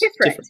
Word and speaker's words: Tiferet: Okay, so the suit of swords is associated to, is it Tiferet? Thank you. Yes. Tiferet.